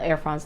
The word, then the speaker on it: Air France: So the concierge at the front desk of the Air France lounge, and I say France because that's how they say it, Air France. They don't say Air France. They say Air France, you know, like that.